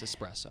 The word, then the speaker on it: espresso: Yeah, he was saying it espresso. wrong. It's espresso.